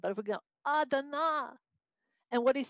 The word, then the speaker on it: Adonai: Okay, so you can see it looks like Adonai. You say Adonai. Now, if that's mispronounced, because I'm not a fabulous Hebrew speaker,